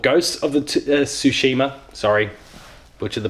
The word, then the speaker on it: Tsushima: a new IP it's called ghosts of the Tsushima sorry butcher the pronunciation there Tsushima it's a Japanese themed samurai action open-world game